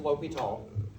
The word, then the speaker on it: L'Hôpital: Okay, and so L'Hôpital was, it looks like La Hospital. I know that. It does. It's actually the French word for hospital, so. But it's pronounced L'Hôpital.